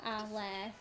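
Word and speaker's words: Arlert: for like for the exact opposite example, for another Attack on Titan comparison, so Armin Arlel in Attack on, or Arlet, if you want to say it like the show does.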